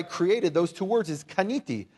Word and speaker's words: kaniti: And the word for I created, those two words, is kaniti. Say kaniti.